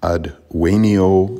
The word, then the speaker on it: advenio: In advenio, the same thing. The I is short.